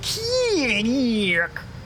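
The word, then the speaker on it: Kilik: Yes, only his is pronounced Keelik.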